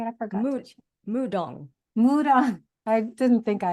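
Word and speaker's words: 무당: Is it Madang? Is that how you say it? I forgot. Mudong.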